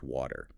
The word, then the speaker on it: water: Focus on the smooth. Could I and the soft water?